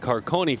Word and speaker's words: Carcone: Now, anytime you see C-A-R-C-O-N-E, one would think Carcone for the Florida commit, but she did put C-A-R-C-O-N-E for the pronunciation. To me, that's Carcone, correct? We're going to go with Carcone.